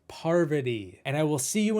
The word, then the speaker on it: Parvati: And in the end, on your way out, don't forget, it's pronounced Parvati, not poverty, Parvati.